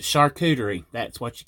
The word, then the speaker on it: charcuterie: mixed into it and charcuterie that's how you say it oh well you know I call it Karen at work they tease me because I caught a Czech chicory board but it's a charcuterie that's what you call